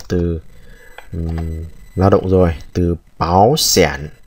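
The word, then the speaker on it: 保险: lao động rồi, từ báo sản. Ở đây hai thanh ba đi liền với nhau thì thành cái chữ đầu tiên thành biến thành thành hai, rồi chúng ta đọc là báo sản có nghĩa là bảo hiểm.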